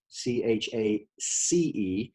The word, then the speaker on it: Chace: Okay, her name is Chace, spelled with a C, Chace.